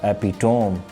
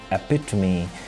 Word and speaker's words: epitome: is epitome epitome or epitome but the correct pronunciation of the word is epitome which means the finest